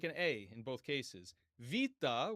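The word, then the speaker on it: βήτα: Va, which is traditionally known as beta, looks like a B. So, pretty easy. Just have to remember that it's pronounced more like a V.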